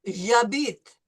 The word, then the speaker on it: J'habite: No, no, no. No H. J'habite.